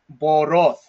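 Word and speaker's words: בּוֹרוֹת: And so the way that we pronounce this word with the ending is boroth, boroth, which means pits, like armpits and so forth.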